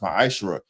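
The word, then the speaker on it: מעשר: 3, 8 through 10, means 10th in Hebrew and is pronounced ma'ashra.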